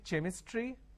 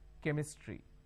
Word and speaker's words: chemistry: Can I say chemistry? No. The pronunciation is chemistry.